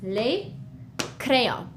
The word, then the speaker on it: les crayons: As you can see, the S is, we don't pronounce it. We write it, we see it when we read it, but it's just les crayons.